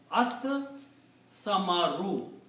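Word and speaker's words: ٱلثَّمَرُ: Then sa is a shamsi letter, so it kills the sound of lam. And you pronounce sa two times. As samaru, the fruit.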